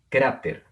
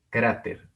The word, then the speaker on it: cráter: Muy bien, tenemos esta otra con el acento en la penúltima sílaba, cráter, cráter.